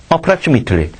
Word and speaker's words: approximate: approximately. 지금 이 단어가 뭐로 나왔어? 밑으로 발음하면 형용사고, 메이트로 발음하면 동사야.